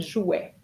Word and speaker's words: jouait: So A-I-E-N-T just gives you the sound E. Il jouait. That's it. Il jouait. Okay. Il jouait. Because AI, remember, AI gives you the sound E, and ENT as part of the verb, silent.